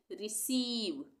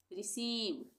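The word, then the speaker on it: receive: है यहां पे तो इसको हम क्या पढ़ेंगे रिसीव रिसीव उसी तरह से कंसीव यहां पे भी इ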